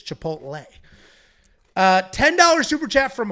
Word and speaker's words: Chipotle: And you said Chipotle. Chipotle. What' you say? I say chipotle. There's no L in my world.